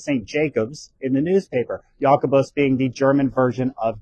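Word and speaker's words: Jakobus: James or S Yakabos as it was pronounced back then.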